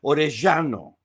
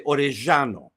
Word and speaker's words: Orellano: So when it comes to Orellano, there's areas in Argentina where they very heavily accent some of the double L's. And so it would be Orellano, right? That's the way that he would pronounce it, maybe. And I haven't even heard him say it. But I have heard other Argentinians say that name or a double L in that aspect. So they would say Orellano, okay?